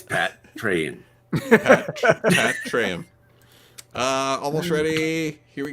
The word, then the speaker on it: Patreon: pat treon patrick and now with the words pronunciation it's pat train uh almost ready here